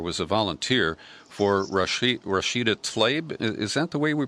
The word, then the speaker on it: Tlaib: And you describe how Raquel worked for, or was a volunteer for Rashida Tlaib. Is that the way we pronounce that? Tlaib.